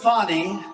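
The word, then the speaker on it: Fani: legit they're Biden counts he worked with fonnie even though it's spelled Fanny f a n i fny how about that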